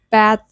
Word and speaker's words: bath: It's not bath, it's bath. See, you're not actually touching your tongue.